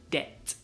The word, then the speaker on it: debt: Pero, no, yeah, you don't pronounce the B again, so it's debt, debt.